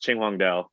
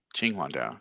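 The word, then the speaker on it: Qinhuangdao: Um, but it's pronounced Ching Wong Dao. Ching Wang Dao. Ching Wang. Yeah. We couldn't get the Q in.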